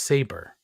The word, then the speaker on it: Sabre: It's pronounced Saber. Sabre.